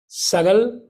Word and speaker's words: Sagal: So again, Sagal is a short A.